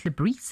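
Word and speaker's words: Le Bris: I think it's like Regis Lebris is actually how you should say Lebris, it. Yes, okay. Yes, should be sounded.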